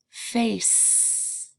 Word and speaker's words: face: with the letter a face that's sound is made with the letter C and then that silent e does two jobs it helps the a long say it's named a and it helps the C make that sound face so today I want